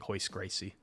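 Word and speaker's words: Royce Gracie: be aware the uh the r is like an H sound in Brazilian Portuguese I learned that uh actually through MMA and mixed martial arts because you got guys like hoist Gracie looks like Roy pronounced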